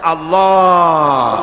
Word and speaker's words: আল্লাহ: পাকের নাম উচ্চারণ হচ্ছে আল্লাহ মুখটা একটু গোল হয়ে যাবে বলেন আল্লাহ আল্লাহ সুবহানাল্লাহ পৃথিবীতে বিভিন্ন